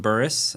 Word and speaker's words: Bures: real quick it's uh my name is buris um that is the incorrect correct way to say my last name it's been angli size here in Texas for many years but um uh it's d